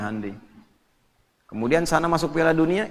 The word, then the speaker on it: Hyundai: Jepang bikin Honda ya Korea bikin hundai Hyundai bacanya Handi kemudian sana masuk Piala